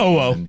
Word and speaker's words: Owo: I can think of Detmer and Timoan, or however you pronounce her name. Owo. Owo. Yeah, Owo.